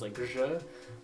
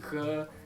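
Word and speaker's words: ج: So the jim is pronounced as je, but in Egyptian Arabic it's pronounced g, and also y, and sometimes it's just a g.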